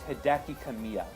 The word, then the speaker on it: Hideki Kamiya: you for one kind of detail but it's Hideki Kamiya yeah I am not good at pronouncing Japanese names exactly Kimmy I'm sure I'm